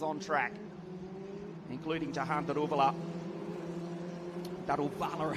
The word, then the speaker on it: Daruvala: Daruvala, I should say. How do we say it correctly? It's Jahan Daruvala.